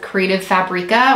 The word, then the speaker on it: Creative Fabrica: creative fabria creative Fabrica I don't know the correct pronunciation of that but but I have always heard it be pronounced as creative Fabrica or at least I heard it pronounced that way for the longest time and so that is what stuck with me let me know in